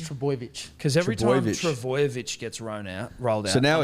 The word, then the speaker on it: Trbojevic: Yeah, it's Trbojevic. So it should be spelled TR, so boy, BOY, Trbojevic, VICH. Right, so not Trbojevic, Trbojevic. No, just Trbojevic. Because every time Trbojevic. Trbojevic gets rolled out.